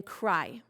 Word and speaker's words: cry: And then that means that the Y at the end is going to say the I sound. So if you have a 3-letter word, a 2-letter word, or really a 1-syllable word, the Y at the end of it is going to say I, like in cry.